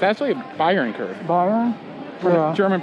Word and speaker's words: Bayern: So watch a video where a German guy collaborated, and he's like, it's actually a Bayern curve. Bayern? Yeah. German pronunciation.